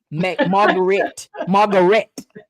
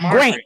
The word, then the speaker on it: Margarét: Margarét. It's not Margaret. So Margarét. in order to get that fancy E, because it's spelled just like Margaret, it just has an accent over the E.